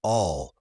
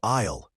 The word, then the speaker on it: I'll: I'll is short for I will. It sounds like all or I'll, quick and smooth.